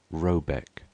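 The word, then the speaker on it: Råbäck: The mana house or herad in question is to be called r a b a e c k pronounced something like robeck though that is not its name.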